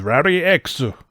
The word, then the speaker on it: Rally-X: believed then the actual the actual original japanese pronunciation of rally x is rari x um so yeah but